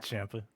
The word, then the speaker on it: Ciampa: Even though it's spelled The second time, yeah. Ciampa.